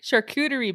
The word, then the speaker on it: charcuterie: I like charcuterie boards. Or character board. Not a character board. Potato. Oh my God. Potato, Samantha. No, you're mispronouncing the word.